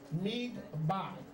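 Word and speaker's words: מגבעה: The Hebrew word here, listen, for turban, if you're taking notes, is Hebrew Strong's 4021, mig-ba. Take notes? Mig-ba. 2 syllables.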